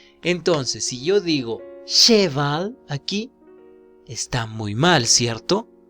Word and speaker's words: cheval: Entonces, si yo digo cheval aquí, está muy mal, ¿cierto? ¿Cómo pronuncio?